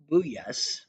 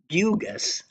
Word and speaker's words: Bugas: And Paul Buyas, Bugas, sorry, they tell you how to pronounce it here in the obit, Bugas, um, ended up giving